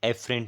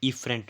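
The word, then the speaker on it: efferent: Motor को हम बोलते हैं, मतलब मोटर नर्व्स को हम बोलते हैं एफरेंट nerves, not एफरेंट, इफरेंट nerves, ठीक है।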